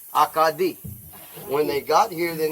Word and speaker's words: Acadie: They started off as where they came from, Acadia, pronounced in French, Acadie.